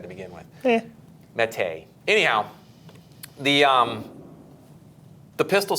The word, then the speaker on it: Mete: methi sfx mate jeff it's mate really you really want to challenge that that really i mean go to the website that's what it says it's what it says or how it's pronounced mate it parentheses mete we'll go ahead and